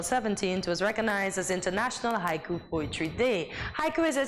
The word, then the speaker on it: haiku: So the word haiku, pronounced haiku, is derived from the Japanese word hoku, meaning starting verse.